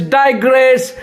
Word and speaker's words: digress: देखिए DAI जब साथ में आता है तो I होता है AII, और G के ऊपर लकीर है, इसका मतलब G पे जोर देना होगा, और A होता है तो ये हो गया digress.